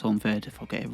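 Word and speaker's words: Honvéd: I think it's pronounced Honved.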